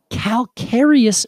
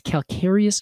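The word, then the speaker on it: calcareous: know why but it's calcarius soils which looks like it would be pronounced the same as calcium caler cerus yeah exactly but then everything I found says it's calcarius soils okay and that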